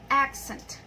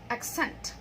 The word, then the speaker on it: accent: Verb, accent. So you notice that the stress is in the second syllable.